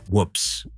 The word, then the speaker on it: WPPSS: WPPSS, pronounced whoops.